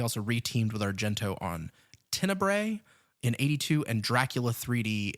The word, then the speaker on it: Tenebrae: Tenebrae is, I don't know if it's pronounced that way or if it's pronounced Tenebra, because depending on the US or the Italian release, it's spelled differently. And it's Tenebra.